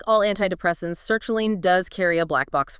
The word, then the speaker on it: sertraline: Sertraline, pronounced Sertraline, and its brand name, Zoloft.